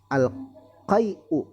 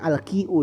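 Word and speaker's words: القيء: Al-qai'u, harusnya al-qi'u ini, ya, dibacanya, ya. Ini sepertinya salah harokat atau seperti apa, gimana nih, harusnya al-qi'u.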